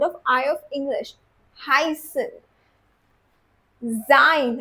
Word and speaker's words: sein: हसन जाइन। अगेन इ आई टुगेदर जाइन। ओके?